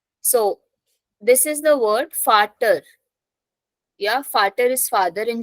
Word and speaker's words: Vater: So this is the word Vater. Yeah, Vater is father in German. So starting from V, pronunciation F. Vater.